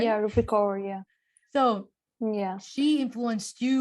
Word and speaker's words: Rupi Kaur: I think her name is Rupi Kaur. How do you say it? How do you say her name? Is that right? Yeah, Rupi Kaur, yeah.